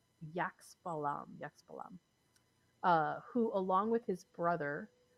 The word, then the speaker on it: Xbalanque: The title of the episode refers to and they pronounce it Yaxbalam, who, along with his